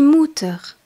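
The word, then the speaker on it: Mutter: mère la maman la mè se dit di mouteur et s'écrit m u de T e r comment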